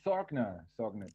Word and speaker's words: Sorgner: It's Sorgner, just how to pronounce it.